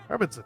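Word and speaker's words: Hermansson: Is that how you pronounce it? Hermanson.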